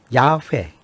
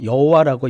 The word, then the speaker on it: 야훼: 그러니까 축약해서 발음해 보면 이 테트라그람마톤을 축약해서 발음하면 야훼, 야훼. 야훼가 됩니다. 야훼 네. 혹은 야훼가 됩니다. 네. 이거 갖고 다투면 안 돼요. 아, 야훼나 야훼나. 예. 네. 그러니 네. 이 테트라그람마톤을 뭐 여호와라고 읽든지 아니면 야훼라고 읽든지 네.